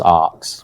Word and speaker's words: ARX: ox or a rx or properly known as arks okay well there you have it guys that's that's how you pronounce arts that's all I wanted to ask